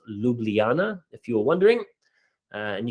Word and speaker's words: Ljubljana: That's pronounced Ljubljana, if you were wondering.